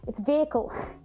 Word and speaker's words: vehicle: vehicle vehicle vehicle guys the H is silent vehicle police vehicle the suspect